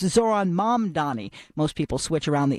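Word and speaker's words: Zohran Mamdani: news anchors, politicians, and public figures most frequently pronounced wrong this year. The new mayor of New York, it's Zoron Mam Donnie.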